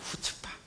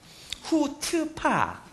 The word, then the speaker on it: 후츠파: 우리 목사님께서 경상도 사투리라 해가지고 나는 전 발음을 정확히 몰랐어요. 후츠파예요. 후츠파. 후츠파.